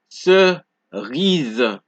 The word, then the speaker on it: cerise: So whenever an S appears between two vowels, right, in a word, you get a Z sound. For example, you can see the S is placed between the I and the E. These are two vowels. So, for example, you hear cerise. Can you hear the Z sound?